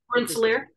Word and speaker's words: Rensselaer: and I'm not going to be able to pronounce the county, but what is the name of the county that? Rensselaer. Whatever you just said. Rensselaer, yeah.